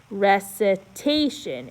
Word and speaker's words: recitation: There's 2 accents, but the punchy one is after the long A. So it's recitation. It's not a recitation, it's a recitation.